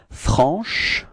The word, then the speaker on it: franche: So I insist a little bit on the sh at the end, but that's just the idea, you know, to show you how you should pronounce it, okay? But then it should be pronounced like franche.